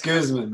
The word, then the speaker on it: Guzman: It's Guzman, yes.